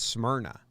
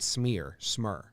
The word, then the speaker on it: Smyrna: I actually think it's Smyrna, and is how they say it, not Smear, Smyrna, Delaware.